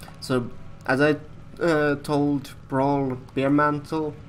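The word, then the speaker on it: Bearmantle: as I told brawl bare mantle bare mantle not be a mantle sorry pronunciation bare mantle since it refers to the animal not to the lovely beverage exposed him as a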